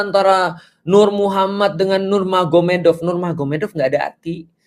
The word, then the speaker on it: Magomed: Kalau kita tahu artinya ma berarti di sana Muhammad jadi Mahomed. Jadi tulisnya Magomet tapi bacanya Mahomed kan gitu kan ya.